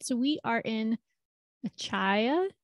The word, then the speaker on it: Achaia: so we are in acai i think that's how you say it a-c-h-a-i-a in greece um